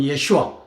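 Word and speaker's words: ישוע: 저 정확한 발음은 예슈아. 아, 히브리인들이 쓰는 이스라엘인들이 쓰는 예슈아가 맞습니다.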